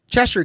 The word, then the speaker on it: Cheshire: All right, so I Googled it, and it's spelled Cheshire. Yes. But it's Cheshire.